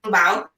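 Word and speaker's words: 红包: How do you pronounce this? Hongbao.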